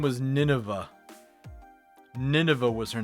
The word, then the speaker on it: Nineveh: I'm like oh oh it's not navine at all it's Nineveh so like oh I got like the rough consonants there but they're in the wrong order and like I'm putting emphasis on the wrong the wrong vowels and it's it's it's